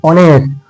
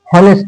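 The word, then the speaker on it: honest: উচ্চারণটা কার মতন হয়েছে, উচ্চারণ দেখো এইচ এর উচ্চারণটা অ এর মতন হয়েছে, এইচ এর উচ্চারণটা কার মতন হয়েছে, অ এর মতন, অনেস্ট, হনেস্ট না, এটা কিন্তু হনেস্ট না, এটা হলো অনেস্ট, ঠিক আছে।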